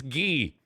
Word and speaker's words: Guy: we'll take a break see we figured out how to pronounce guy V an e I would loved if guy said ghee oh you want an odd pronounce my name it's ghee all right we'll take